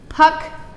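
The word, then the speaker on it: ផឹក: that's okay um drink the word drink is Puck Puck rhymes with duck now remember ending sounds are never sounded so it's simply you stop it so it would be Puck not Puck Puck pck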